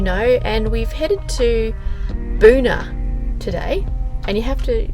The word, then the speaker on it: Boona: We are still in the Scenic Rim, as you know, and we've headed to Boona today. And you have to really pronounce Boona properly.